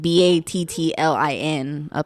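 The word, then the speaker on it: Battlin': Battling, or I think it's Batlin, like with the, like Battlin. Oh, like battling. Battling, yeah. Sorry, like, I was trying to think. They're just knocking that G off the end of it.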